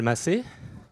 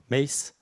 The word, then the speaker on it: Massé: I'm Massé. Difficult name to pronounce for an English person. So it's not or Mace, even if Mace, if the kind of metalhead, it's okay for me.